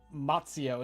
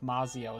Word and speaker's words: Mazio: The fact that you're pronouncing the Z like it's like a TZ is interesting to me. What? Like you're saying Matsio instead of Mazio, and that's interesting to me.